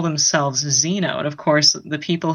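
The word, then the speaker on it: Xeno: occupants we call themselves Zeno and of course the people who would record that spell it as ze and oh well that actually you know is more like Zeno XE and Oh which of course means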